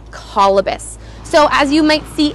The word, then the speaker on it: Colobus: And what's really cool is how they got their name, Colobus. So as you might see in the caption, Colobus is spelt C-O-L-O-B-U-S.